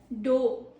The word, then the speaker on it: dough: DOH, dough. Meaning it is an uncooked mixture of bread or pastry is known as dough. Really simple. Pro tip is OUGH sounds like OH here.